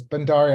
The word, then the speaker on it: Bhandari: record sure no no you're very close bhandari it doesn't rhyme with anything so I can't give you any cheats um um thank you um